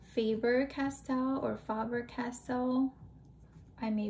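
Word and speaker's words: Faber-Castell: i think it's pronounced faber castell or faber castell i may be totally wrong i think it's faber castell because there's two l's at the end instead of favorite castle um they are a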